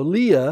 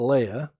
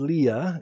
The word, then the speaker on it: Leah: okay i'll call her leah so leah instead of leia i always thought it was leia but she said grandpa you can't keep calling her leia her name is leah otherwise it would be spelled like this and i was like oh okay you're 14.